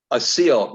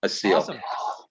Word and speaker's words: Asil: named captain so captain asil is it um okay a seal that's how you say my name a seal and i love it